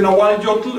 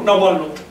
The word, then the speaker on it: nahualotl: Así que no se dice Nahual Yotl, eso sería un barbarismo, sino Nahual Lotl.